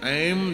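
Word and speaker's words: ऐं: है क्या कहा यह ऐम जो है यह देवी का बीज मंत्र है ध्यान से सुनना शुद्ध उच्चारण तो इसने नहीं किया लेकिन ऐ की जगह पर ए बोला ए ऐ कहा कृपा हो गई देवी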